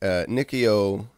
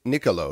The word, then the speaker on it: Niccolò: it a step back Nikki Oh Nick Niccolo excuse me Niccolo I always say it Nikki oh it's Niccolo I always say his